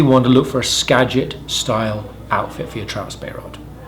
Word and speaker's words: Skagit: ones line called a Skagit all right it's Skagit I just want to get your pronunciation right don't call it scag it cuz you go to Washington you're gonna get